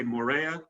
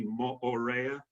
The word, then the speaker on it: Moorea: and by the way all the vowels are pronounced in Tahitian language so mostly you'll hear people say Moorea but it's actually more rare because you pronounced both